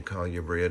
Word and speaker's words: colubrid: I say colubrid, it's the southern pronunciation.